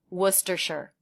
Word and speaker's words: Worcestershire: from which it comes, Worcestershire, where shire sounds just like the state name, New Hampshire. So we drop the first R, and the vowel in that syllable is the as in push vowel, w, w.